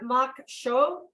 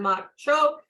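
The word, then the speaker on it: maque choux: pickles crawfish and corn mock show hope that's right made from freshly shut corn crawfish veggies herbs and spices this Big Easy favorite crawfish corn mock choke pronounced shoe of makshu there best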